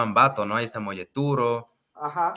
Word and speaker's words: Ambato: Pero en quichua, entiendo yo que se pronuncia como Ambatu, y ahora eso se llama Ambato, ¿no?